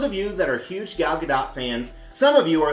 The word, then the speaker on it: Gal Gadot: actress herself has stated it's a soft tee that you do actually pronounce in multiple interviews Believe